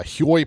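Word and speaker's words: Hyoi: So, offscreen, I went off and uh and I got some more um uh Huoy pairs. I think that's how you pronounce them. I think it's pronounced Hoy.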